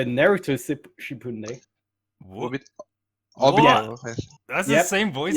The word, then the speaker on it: Obito: Ubito in Naruto Shippuden. What? Obito.